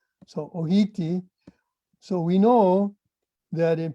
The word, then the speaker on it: ʻōhiti: T sound, like makahiti, they would say it like that. And so, or hiti meaning arrive, and ohiti. So you should stand behind that Maui pronunciation for this crab.